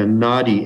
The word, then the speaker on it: Nadi: It's, and when you say the Nadi, N-A-D-I, it's spelled, or sometimes called a Bhrigu reader, because